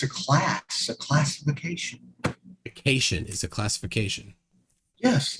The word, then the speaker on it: cation: He is incorrectly identifying it as category ion. Yeah, we'll prove it's not. Trey, cation is a positively charged ion. Cat ion.